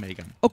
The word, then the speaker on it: MAYCAM: Ahí los fanáticos dicen Mecha o Mecha. Yo creo que mayoritariamente se dice Mecha. La pronunciación en realidad es Mecha.